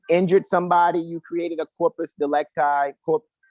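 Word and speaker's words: corpus delicti: somebody you created a corpus delect guy is actually how it's pronounced in the Latin purpose if you created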